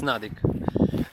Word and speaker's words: Nudik: Pronunciation is Nudik.